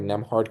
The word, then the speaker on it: Nembhard: you Nemhard.